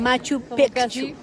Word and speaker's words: Machu Picchu: a machu picchu y es importante que se pronuncie de machu picchu como por eso es la doble c como vamos mirando hace